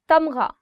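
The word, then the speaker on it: تمغہ: Tamgha, medal. Tamgha, gha. The sound of gha or the alphabet ghain is always coming from here. So try it from here.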